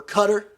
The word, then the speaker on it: Qatar: Have you heard of Qatar, or Qatar as Americans say?